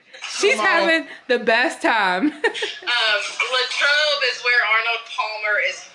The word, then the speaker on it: Latrobe: Latrobe is how you say it. We were like, how do you say this? Okay, Latrobe, Pennsylvania.